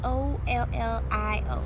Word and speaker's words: Ollio: I don't want to mispronounce their name, but it's Ollio.